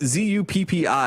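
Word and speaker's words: Zuppi: Zupi, something like that, Jeppi, uh, it's just Zupi is how you say it.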